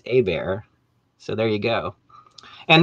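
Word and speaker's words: Hébert: r's it's herbert but if you take out the first r it's a bear so there you go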